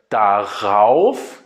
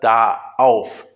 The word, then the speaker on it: darauf: So, and in order to be able to pronounce this better, we say an R in the middle. So darüber instead of daüber or darauf instead of daauf.